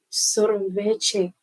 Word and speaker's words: sorvete: Sorvete. I don't know if I've gotten the pronunciation correct, but let's remember and see. Sorvete. Sorvete. Chi, not che.